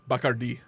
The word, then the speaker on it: Bacardi: Bacardi. The accent is on the I at the end.